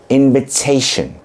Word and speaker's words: invitation: var o da şu Eğer iki harfin arasına gelip vurgulanan bir hecenin başındaysa o zaman yine de T gibi telaffuz ediliyor örnek invitation şimdi invitation kelimesindeki duyduğunuz